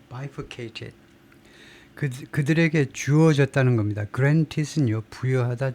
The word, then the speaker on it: bifurcated: 그 다음에 이게 발음이 어떻게 되냐면 bifurcated. 앞 제1음절에 액센트가 있는 것 같아요. bifurcated.